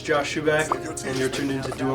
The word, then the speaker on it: Schuback: It's shoe and a back. Schuback.